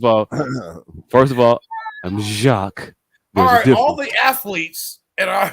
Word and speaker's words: Jacques: it up I pronounce jock right no no Jacques is Jacques and those were jocks difference they got the rough on their throat that's what I just